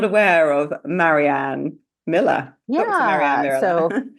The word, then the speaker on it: Marianne: who's not aware of Marianne Miller, Dr. Marianne Yeah. So, Miller? yeah. So, Dr. Marianne Miller at Dr. Marianne Miller, and my first name is spelled the French way, Marianne.